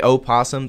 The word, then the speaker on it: opossum: commonly as the opossum I usually pronounce the O I think there's actually quite a few people who do that to differentiate it from the other creature and which is not